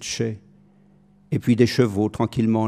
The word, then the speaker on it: Chelly: dans le fond du canyon de chelly faut prononcer de chai et puis des chevaux